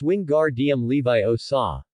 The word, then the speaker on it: Wingardium Leviosa: Ron, it's Wingardium Leviosa, not Wingardium Leviosa, Hermione corrected Ron's pronunciation, who was sitting to her left.